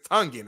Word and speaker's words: Tongan: I think it's Tongan, right? It's Tongan. I mean, I don't know if you spell it. It's spelled with an O, not a U, just so we're clear.